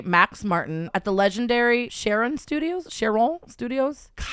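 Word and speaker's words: Cheiron Studios: They were connected with a production duo, Dennis Pop and his protege, Max Martin, at the legendary Sharon Studios. Cheron Studios, Chiron Studios is how you pronounce it.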